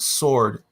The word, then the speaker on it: sword: care at all that the word sword the W is silent he still likes to pronounce sword like that is it's not there I don't care I